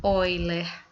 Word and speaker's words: Euler: relação de Euler tá ou como a gente menciona oiler tá bom eer Como se escreve oiler é a pronúncia correta poré muitas vezes falo Euler mesmo então pegando lá a